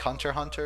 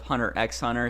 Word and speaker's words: Hunter x Hunter: spy expand Leda spot the X is silent much like hunter hunter oh so so how you say it is just Hunter hunter instead of hunter x hunter so you say spy